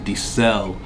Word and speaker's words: Di Ser: And it's from the house of Dicel. It's spelled like Dicer. I'll put it up on the screen, but it's pronounced Dicel.